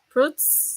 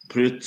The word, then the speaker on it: Prütz: Fruits. Fritz. Britz. Fruits. Okay. Brit. It's Pritz. It's my u last name.